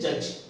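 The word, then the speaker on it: judge: spelling की जैसे देखिए जज क्या जज अब जज में जे यू डी जी ए पर यहां पे दी का प्रनंसीएशन नहीं करेंगे जज है ना दी इसमें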